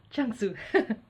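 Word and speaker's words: Zhuangzi: how to pronounce it Chun soo not light su Chun soo so this is sort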